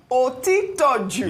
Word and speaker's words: Otitoju: Otitoju.